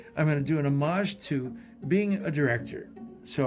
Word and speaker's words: homage: It is homage. He pronounced it differently, but maybe it's the beret.